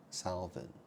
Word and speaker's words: Salvin: Well, my name is Salvin. So the word is spelled S-A-L-V-I-N. So you think about that name, right? Salvin. Well, sal, salt, and vin, wine.